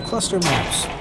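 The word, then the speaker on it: ClustrMaps: It's pronounced Cluster Maps, but there's no E.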